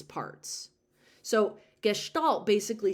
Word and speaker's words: gestalt: of gestalt, and that's how you say it, gestalt.